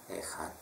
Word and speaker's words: Echad: Echad tuh, kalau di Indonesia ini lebih jelas dengan kata KH, maka di ET juga pakai KH, Echad ya, bukan C ya. C itu Inggris, bacanya sama, K, Echad, bukan Echad tapi Echad.